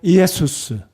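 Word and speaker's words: Ἰησοῦς: 주보에 적어 두었는지 모르겠지만요 예수님의 이름은 정확하게 이해할 수입니다이 애수스 그래서 빨리 읽으면 예수가 되죠 우리 한번 따라서 해 보실까요 이에수스 우리 주님의 이름 예수라는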